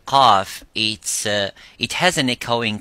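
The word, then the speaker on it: قاف: So when we pronounce the qaf, we try to pronounce it audibly and as it is, qa, by opening slightly the lips vertically and making that sound and echoing by saying qa.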